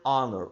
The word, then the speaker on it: honor: An honor, o H não é pronunciado.